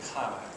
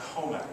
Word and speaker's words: Commack: the soft sound so I always say comac that's how I grew up not comac so uh but I have been told the original spelling was CAC which would be comac uh but it is spelled c mmac k so I like to